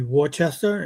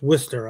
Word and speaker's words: Worcester: But um even like cities like um if you look at it, you you'd think it would be Warchester and it's Worcester out there or um just the way they pronounce things are kind of Well, it's Bostonish, you know.